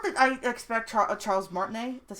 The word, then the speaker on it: Martinet: characters have okay not that I expect Charles martinet that's how you say it so to voice